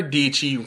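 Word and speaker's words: Dietschy: name is uh Sarah deechi rhymes with PG as what she always says and she says she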